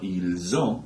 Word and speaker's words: ils ont: And with avoir, you're just doing liaison, and that's what gives you the Z sound before you go into the verb, ils ont, right?